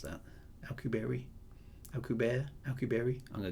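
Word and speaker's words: Alcubierre: can't say it now okay I'll keep Theory alcubieri he's Mexican is he Oh I thought I've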